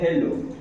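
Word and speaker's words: hello: हेलो लिखा गया हेलो तो अमेरिकन जो प्रोनाउंस करते हैं तो इसमें विथ एच यानी एच के साथका प्रोनंसिएशन करते है वो बोलते हैं हेलो जबक वही ब्रिटिश इंग्लिश में इस उच्चारण किया क्या बोला जाता है बोता है एलो क्या बोला जाता है एलो यानी इसमें जो है एच साइलेंट हो जाता है 90 पर ब्रिटिश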